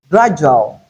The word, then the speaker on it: gradual: Mostly when we have this letter preceding letter U that's coming before letter U likely to realize it as J or D as in gradual.